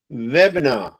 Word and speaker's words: webinar: Uh Laura just said, "Look at how you pronounce this word webinar, right? See that? It's like not an I sound."